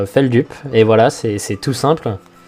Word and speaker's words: Feldup: dupe et du coup ça se prononce fel dupe et voilà c'est tout